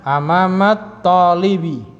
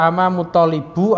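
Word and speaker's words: أمامَ الطالبِ: Maka bacanya amamat talibi. Ya, jangan salah baca amamut talibu atau amamat taliba, itu salah.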